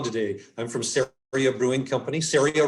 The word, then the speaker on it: Ceria: i'm from sewing company syria rhymes with area and uh we're here